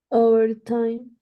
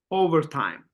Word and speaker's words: overtime: yeah yes very good yes absolutely the first one overtime overtime you can feel how we're stressing the first syllable how we are pronouncing